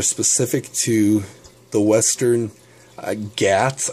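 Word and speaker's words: Ghats: to the western uh gats i think is how you say g-h-a-t-s in india and trying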